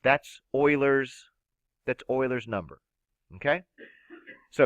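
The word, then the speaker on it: Euler: guys can read about it's pronounced Oiler Leonard Oiler all right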